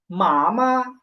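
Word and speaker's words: 妈妈: কোন টোন নাই তো এটা হচ্ছে নিউট্রাল ফর্ম এটা উচ্চারণ হবে কেমন একেবারে নরমাল মা প্রথমে হবে মা তারপর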